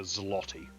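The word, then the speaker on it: złoty: The zloty, which is probably not how it's pronounced, but just love the Zs.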